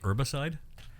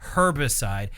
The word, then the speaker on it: herbicide: No, the the but in any case, herbicide. See, that feels wrong to me. It feels like I'm making a choice to pronounce the H.